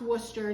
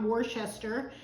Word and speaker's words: Worcester: if you go to England Worcester this is pronounced Worcester not Worcester and I don't know why people have such